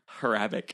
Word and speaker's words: Hrabik: Hrabik.